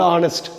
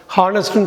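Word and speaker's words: honest: அடுத்த வார்த்தை வந்து ஆனஸ்ட். ஹானஸ்ட்னு சொல்லக்கூடாது, நிறைய பேர் சொல்லுவாங்க. ஆனஸ்ட் அப்படின்னு சொல்லணும். எகெயின் இங்கே ஹெச் எப்படி சைலண்ட்டோ அதுமாரி ஹெச் இங்கே சைலண்ட்டு.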